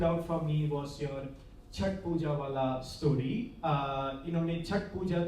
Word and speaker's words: छठ पूजा: अभी मुझे तब जाके अनुजा ने बोला उसको छठ पूजा नहीं छठ पूजा बोलते हैं, because I have been always reading it in English. So CHHAT, I was pronouncing it as Chhath Puja instead of Chhat Puja.